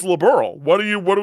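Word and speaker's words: Liberl: Uh, for some reason almost every time liberal is pronounced in the demo, they say liberal. And I'm like, no, that isn't correct.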